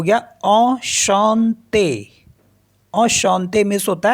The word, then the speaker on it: enchanté: तो ये हो गया enchanté।